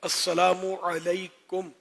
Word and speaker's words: السلام علیکم: جو سلام کرتے ہیں بدقسمتی سے سلام وہ بھی درست نہیں کرتے، جس کا صحیح تلفظ ہے وہ ادا نہیں کرتے. تو السلام علیکم یہ کہنا اگر کہوں اکثریت اور